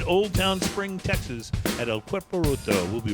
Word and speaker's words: El Cuerpo Roto: on location in Old Town Spring, Texas at El Cuerpo Roto. We'll be right back. Welcome back. It's Smoking and Toasting. We are on location, my friends, at El Cuerpo Roto.